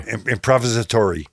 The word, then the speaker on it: improvisatory: you say that with ending an ori improvisatory improvis improvisatory improvisatory so and we'll hear later